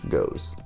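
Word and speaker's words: Gose: How do you pronounce G-O-S-E? Goes.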